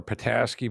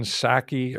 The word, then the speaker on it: Psaki: I keep mispronouncing her name. I like to call her Pataski, but it's not. It's like Jen Psaki or something like that.